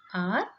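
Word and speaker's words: hour: In all the three words, the H is silent. Okay, so how you pronounce this word? That is R and honor. So the pronunciation starts from the O. Here also honor. Okay, so the sound starts here as R.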